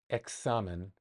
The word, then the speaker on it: examen: Um, examen. That one I know for sure. X. Sounds like an X in English.